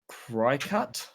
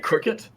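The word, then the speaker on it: Cricut: Uh, called Cry Cut, but yeah, Cricket. Yeah, it's spelled Cry Cut, man.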